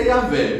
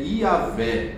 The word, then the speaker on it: Iavé: Eu, eu prefiro a pronúncia Iavé, mas o I faz sentido também, mas os estudiosos eles costumam dizer que é Iavé a pronúncia, né, do Antigo Testamento.